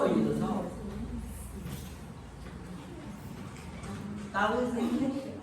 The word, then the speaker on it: tau: How to find the shear stress. Shares stress. Shear stress. T. Lovely. What is this one? T or tau? How? Why? Does this look like T? No. We call it tau.